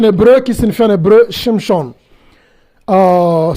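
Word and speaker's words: שמשון: qui signifie shim SHON shimchon c'est mot qui est en hébreu qui signifie en hébreu shimson euh ce mot a de syllables les premières syllabes syllabe c'est chim et le deème syllabe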